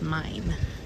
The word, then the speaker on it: Main: think we found the mine River spelled like Maine but it's pronounced mine the plane oh I'm